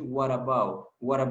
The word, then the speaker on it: what about: Cuando la T está en medio de dos vocales, en ese caso, about termina con vocal, about comienza con vocal y what termina con T. Entonces esa T, si ustedes se fijan, tiene una vocal al lado izquierdo y una vocal al lado derecho. Entonces lo van a pronunciar como una R, no R, como una R de español. Entonces van a decir, what about you?